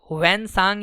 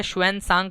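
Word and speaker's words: Xuanzang: शुएन सांग बोलो या हुएन सांग बोलो, एक ही बात है।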